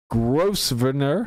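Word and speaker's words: Grosvenor: said different things yeah why is the ass silent don't talk to me about it that's what it is when the governor governor like it's not gr venor I imagine no I think you're right I yeah if you pronounce it Brit it's gr yeah yeah so everything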